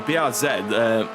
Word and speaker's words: BRZ: Yeah, the BRZ look, the BRZ, not Z, we don't pronounce it Z. We're not American. We don't pronounce it as Z.